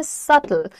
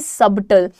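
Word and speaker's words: subtle: उसे हम कहते हैं सटल ना कि सबटल तो जैसे कई बार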